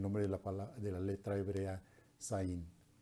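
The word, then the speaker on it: ז: de la letra hebrea Zain. Se pronuncia esa letra hebrea como si fuera una Z española.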